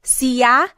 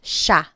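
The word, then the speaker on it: siya: And again, just to point out the pronunciation, it looks like it should be pronounced sa, but it's usually pronounced sha sha.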